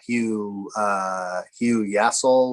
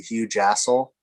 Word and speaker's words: Hugh Jassel: That was you were for a while, the guy was leading there was Hugh Yassel, or right? Yeah. You were saying the proper pronunciation of that is actually Hugh Jassel.